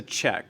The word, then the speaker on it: cheque: But this is what we refer to as a check. It's spelled C-H-E-Q-U-E-S, typically.